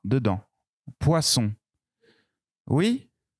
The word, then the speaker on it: poisson: deux dents poisson oui attention il n'ya pas le son à d'emploi son nom poisson poisson ça s'écrit comme ça poisson poisson il n'y a pas à illies awa à tence wahaha ce n'est pas le même son ouah ouah pour mais